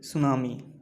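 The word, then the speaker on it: tsunami: हूं मेरा टैबलेट बनी यह सुनामी जुट यह साइलेंट होता है इसमें हम इसे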